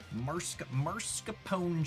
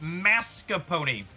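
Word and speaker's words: mascarpone: Marsapone cheese. It's pronounced mascapony.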